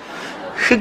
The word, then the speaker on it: 흙: 따라해보세요 흐흫 예 아 여기는 발음이 명확합니다 경상도 간 바르면 더욱 되던데 흑 입니다 흑 예 저는 요 개인적으로